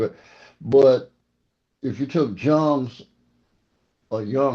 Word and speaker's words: Jung: But if you took Jung's, or Jung, how you say it?